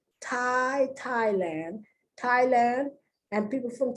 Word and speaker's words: Thai: th versus th no because it's the t sound thai thailand thailand and people from thailand are called thai but it's not spelled t i e it's spelled uppercase t